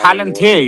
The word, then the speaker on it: Palantir: Planetaire or whatever? Planet? I don't know how to pronounce this shit properly. It's like the all-seeing eye. Palantir, you're talking.